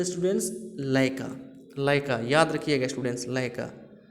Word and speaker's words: Laika: नाम था स्टूडेंट्स लाइका। क्या स्टूडेंट्स? लाइका। लेकिन बहुत सारे स्टूडेंट्स इसको गलत प्रोनाउंसिएशंस करते हैं, लइका बोलते हैं।